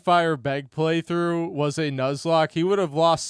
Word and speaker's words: Nuzlocke: It's pronounced Nuzlocke as in the Pokemon Nuzle Leaf.